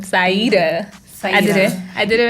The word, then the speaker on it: Saidah: And I love how she pronounces her name, Saidah. I did it right? You said it Saidah.